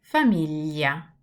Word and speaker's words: famiglia: The only word that I can think of in English that resembles this sound is the word million. So it's a very liquid sound, L, L.